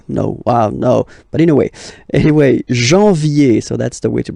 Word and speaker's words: janvier: But anyway, janvier. So that's the way to pronounce it. Janvier. A-N, en. Okay? And then ye.